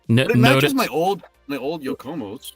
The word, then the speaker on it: Yokomo: The Yokomo. Yo, Como. Yo, Como, dude. It's yeah. Pretty sure we all say Yokomo. It's one word.